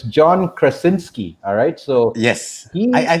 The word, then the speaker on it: Krasinski: and it's actually started by this gentleman Joe crow crow con ski let me get it right here because I don't want to butcher the poor guys so it's John Krasinski alright so yes yeah I think it was